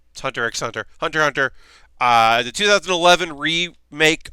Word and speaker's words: Hunter x Hunter: watching again Hunter hunter the X is silent Hunter x Hunter hunter hunter the 2011